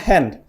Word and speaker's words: Hand: ternyata kok gitu kemudian tangan itu bahasa Inggrisnya hand tapi bahasa Jerman sama tulisannya tapi dibacanya Han seperti itu kemudian Akhirnya saya minta